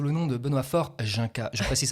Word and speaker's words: Junka: Oui, je suis aussi connu, je précise, sous le nom de Benoît Faure Junka. Je précise, ça se prononce Junka et pas non Yunka ou Junka, parce qu'on a déjà fait la réflexion.